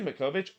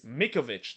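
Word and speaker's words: Mićović: Oh wait, did I say Mikovic? It's Mikovic. That's how you pronounce. I do not know why I'm pronouncing it Mikovic.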